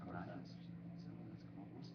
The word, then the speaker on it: tinnitus: shot me up like tinnitus. Tinnitus is actually how it's pronounced. It looks like tinnitus.